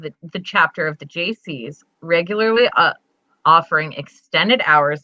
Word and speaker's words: Gacy: yeah but hey john isn't this pronounced gazey no it's a soft g it's it's so your name is john wayne jaycee uh-huh and you were